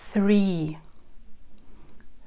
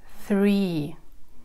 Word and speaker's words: three: Three. Three. В этом слове задействован звук «th». Это не простой звук «с», который произносится не на зубах, а язычок слегка выглядывает, и такой звук получается.